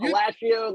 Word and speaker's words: Alascio: Alascio, like pistachio.